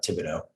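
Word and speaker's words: Thibodeaux: How do you say it? I pronounce it Thibodeau. Thibodeau. That's right.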